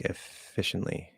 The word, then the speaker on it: efficiently: not finished yet um do you pronounce efficiently like efficiently yes you can drop the T there's no problem it's